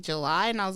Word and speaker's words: Jelie: I know it's spelled weird, but I'm telling you, it's July.